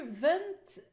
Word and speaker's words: event: If It's Paper okay event you can say you can hear event over e here e is weak syllable so you have to put the stress on the second sample and these are the